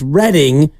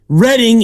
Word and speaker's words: Reading: How do they spell Reading, California? Do you know? 2 Ds. Correct. Because that's how you pronounce Reading.